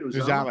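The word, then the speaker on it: Uzomah: Uzama, yep.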